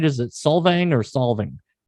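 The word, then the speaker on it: Solvang: Is it Salvang or Salvang? How do you pronounce that place?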